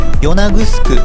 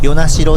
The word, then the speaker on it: 与那城: ちなみに与那城の読み方は与那城かと思ったのですが、今は与那城で良いそうです。1993 年まで